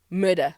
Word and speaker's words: Mörda: How do you pronounce it? Murder.